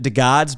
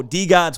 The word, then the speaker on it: DeGods: that first episode yet i've always pronounced it the gods because i'm from detroit and that's how we pronounce pronounced detroit and so d gods was always a little